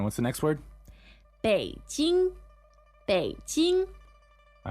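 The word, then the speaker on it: 北京: Beijing. All right. You probably know how to spell that already. That's third tone, first tone.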